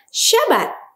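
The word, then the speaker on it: שבת: Sya, ba, et. Nah, jadi kita membacanya ini dengan syabat. Ya, mudah sekali, sangat sederhana.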